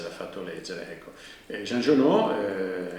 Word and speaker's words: Giono: fatto leggere ecco jean giono in realtà jean giono perché poi però c'è un nome e un cognome italiano trasformato secondo l'accento francese è uno scrittore del